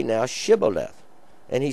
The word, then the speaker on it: Shibboleth: And the Shibboleth, when they couldn't, is sh sound.